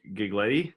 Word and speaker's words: Giglietti: today I have Joe gig lady they say right I forgot that it's okay it rhymes with spaghetti its Jill Addie like a spaghetti it's